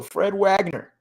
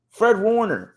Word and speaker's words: Fred Warner: Fred Wagner. Fred Wagner? Did I say it right? Yeah. Fred Wagner? I feel like I'm saying that wrong. Fred Warner.